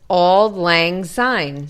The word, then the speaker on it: Auld Lang Syne: It's Auld Lang Syne. Spell it out.